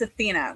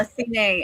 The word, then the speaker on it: Athene: Horrible at pronunciations. I am sorry, but the goddess Athena, which they call Athene in this, which I like Athene, but as far as I've known, it's always been it's Athena.